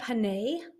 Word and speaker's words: Ginnese: I don't want to mispronounce the name of your camp. What is it? Camp Ginnese.